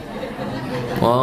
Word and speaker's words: eau: Eau de toilete artinya adalah o toilet bacanya. Eau atau o itu artinya air toilet ya toilet.